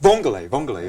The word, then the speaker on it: vongole: But vongole, am I saying it right?